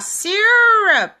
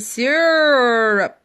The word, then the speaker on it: syrup: Então, você vai falar syrup. Então, ele dá uma alongada nesse syrup.